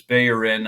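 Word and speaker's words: Bellerín: any ex you know bellerin was one where we speak you know we knew him as bellerin and then he was bayin and that's just odd so let's not do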